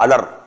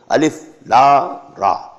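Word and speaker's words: الر: Alif lam ra alar, no. Alif la ra.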